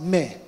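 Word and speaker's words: μή: word in Greek called pronounced me okay it's not the same me as we use it today okay means ever in other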